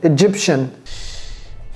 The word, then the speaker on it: Egyptian: Vous voyez comment j'ai prononcé ça? Shin. Egyptian.